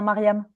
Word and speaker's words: Mariam: Est-ce que je prononce bien ton prénom? On dit bien Mariam. Parfait. C'est ça.